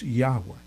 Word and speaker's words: Yahweh: I don't believe the correct pronunciation of his name is Yahuwah. I believe it's Yahweh.